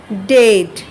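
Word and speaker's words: debt: straight তারপর বলছে আবার ডেড এখানে আবার বি এর উচ্চারণটা হবে না এরপর দেখ মথ মানে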